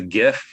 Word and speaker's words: GIF: back in the day no it's a gif it starts with a g i don't care if